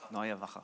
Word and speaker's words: Neue Wache: Neue Wache.